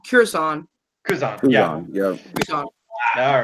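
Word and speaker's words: Kuzon: It's Curzon.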